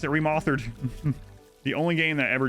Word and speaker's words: Remothered: forget dream daddy remauthored you might be saying yourself Adam remauthered surely it's pronounced remothered it's not no no that's why my